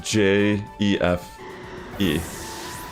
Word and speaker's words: Jefe: kind of like this it's like a Spanish spelling it's j e f e but it's pronounced like Jefe there's also pop-upless is